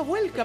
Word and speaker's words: Welcome: Bueno, Mariano, welcome es tu apellido. Y welcome. Ah, welcome. Se pronuncia como bienvenido en inglés, pero es con 2M.